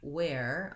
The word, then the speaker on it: wear: Then these two words, where, as in where are you, and where, I'm wearing a fleece, have the same pronunciation. They're both air diphthongs, and so I have the tense A into my air, where.